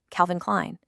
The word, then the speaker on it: Calvin Klein: No tricks here, no silent letters. It's just Calvin Klein.